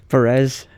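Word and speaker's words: Pérez: much like Amelia perz Perez no I believe you put the emphasis on the first syllable because of the accent no is that a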